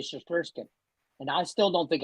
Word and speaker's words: Shesterkin: Russian, you're lucky I can say Shesterkin.